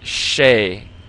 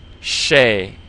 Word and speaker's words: 谁: And then this I in pinyin sounds like the a in hey. So you just take the sh and put an a on the end of it. Shay. Shay. It almost sounds like you want to say shape, like what's the shape, a circle or a square shape, except there's no p on the end. Shay, and your tongue is curled.